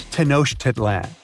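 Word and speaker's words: Tenochtitlan: It's Tenosh Titlan. And Mayan cities are hard to pronounce, too.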